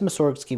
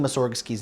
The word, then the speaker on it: Mussorgsky: we also know that originally his name had emphasis on the first syllable since emphasis can be